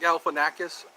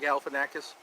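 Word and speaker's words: Galifianakis: always and G Zack galanakis I can't seem to pass up Zack gal fakis starts with the gal ends with a kiss it's funny how he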